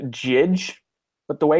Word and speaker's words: Jydge: There's a game, I believe it's pronounced Jidge, but the way it's stylized looks like Judge.